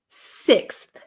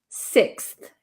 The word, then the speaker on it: sixth: pronounce six uh so no I wouldn't use an F sound here this should be a th sound so um fourth fifth sixth sixth right six okay rur